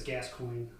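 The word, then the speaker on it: Gascoigne: It's gascoin. Gascoin. Gascoin. Okay. Okay. So, I've been pronouncing it wrong.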